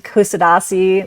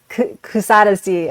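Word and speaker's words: Kuşadası: So I I call this city Kusadasi which I've probably completely pronounced incorrectly Kusadesi.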